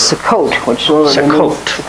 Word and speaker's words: Sukkot: Another way to pronounce that is Sukkot, which literally means a temporary dwelling.